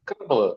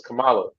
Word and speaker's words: Kamala: happened because you know people were saying CA and it was like no it's Kamala come and then next you